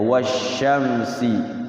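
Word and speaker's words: والشمس: Jadi enggak berbunyi alnya kayak wasyamsi. Wasyamsi kesannya kayak tidak ada alnya padahal situ ada alnya.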